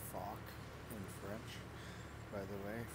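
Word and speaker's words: Foch: It's fuck in French, by the way, for all those people that always say fosh. You don't pronounce the H.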